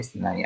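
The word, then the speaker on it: اثنا: Ya, angka isna asyara, isnai asyaranya. Baik. Untuk perhatikan di sini dibacanya isna pakai alif.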